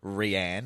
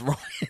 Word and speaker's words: Rian: Hey, I made a Or Rianne, as I called you for years, because your name's spelt weird and I never heard it pronounced out loud. Is it just pronounced Ryan? It's Ryan, yeah.